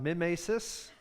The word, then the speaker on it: mimesis: And that's, we're going to talk about, if you're curious about the pronunciation, we're going to talk about mimesis and poiesis, okay?